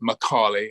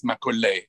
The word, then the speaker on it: Macaulay: pronunciation of my name it's alistair macaulay but when i visited india it was a lot of fun to hear the different ways that people pronounce my name and of course benit i'm living in london which i'm in from england but many people in america pronounce it macaulay and so there's lots of different if i go to france it's makgeolli and so forth don't worry my subject